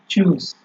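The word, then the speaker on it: Tschüss: চুজ, ঠিক আছে, এটার উচ্চারণটা হচ্ছে আপনার চুজ, মানে হচ্ছে আপনার ওই যে বাই দেওয়ার পরে বলে না যে ঠিক আছে তাহলে আসি, ওই রকম।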